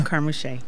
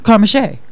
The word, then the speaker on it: Carmouche: Carmouche. Carmen See, I Shea. just wanted her to say it because Love it. I knew I was not going to say it right. Carmouche.